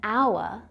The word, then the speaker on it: hour: The same thing happens with consonants that are silent or they're pronounced as vowel sounds, like in hour, where the H is silent. The first sound in hour is a vowel sound, so we say an hour.